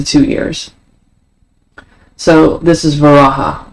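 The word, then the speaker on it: Varaha: actually say this properly, but it's v a r a h a and that's reebus to vara. Um, yes, it's two syllables.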